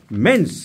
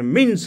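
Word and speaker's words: menses: অনেক শিক্ষিত মানুষও স্কুলের ইংরেজির মাস্টার বলছে, ডাক্তারবাবু আমার ওয়াইফের মিন্স হয়নি। মিন মানে আমরা বলি না, হোয়াট ডু ইউ মিন, তুমি কি বলতে চাইছো? সে উচ্চারণ মিন্স নয়, মেন্স, মেনস্ট্রুয়েশন।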